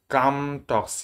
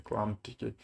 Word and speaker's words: ClamTK: Any kind of Linux, you can download the ComTalk, ClamTK. Yes, the pronunciation is the ClamTK.